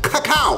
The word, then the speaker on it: cacao: up with some creme de cacao get the pronunciation correct cacao all right it was in half an hour's